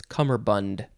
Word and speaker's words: cummerbund: it's just it's cummerbund if you want to say it properly it's cummerbund uh yeah i think